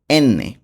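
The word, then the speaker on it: enne: এম এর উচ্চারণ হবে এম্মে, নট এম। এম্মে। ওকে? এনকে বলবো এন্নে।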